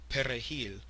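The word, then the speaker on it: perejil: to kill anyone who couldn't pronounce Peril the Spanish word for parsley hence parsley man Massacre because of the French they typically have a hard time pronouncing the r it was easier to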